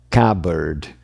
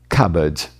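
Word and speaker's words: cupboard: Aqui eles estão no som de Então a palavra é cabard. E o britânico pode tirar fora esse R e você pode ouvir algo do tipo cabard.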